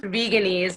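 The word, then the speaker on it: Veganaise: It's pronounced veganese, Ashley.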